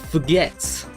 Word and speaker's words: fgets: It's pronounced forgets.